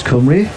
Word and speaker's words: Cymru: I mean, Wales pronounce Cymru.